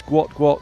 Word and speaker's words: Gout Gout: future rivalry with uh he's typically pronounced gout gout, but I know there's a desire to move towards guat the the original intended pronunciation.